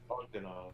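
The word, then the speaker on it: Bogdanove: Fletch, how do you pronounce John's last name? Bogdanov. Bogdanov? Bogdanov.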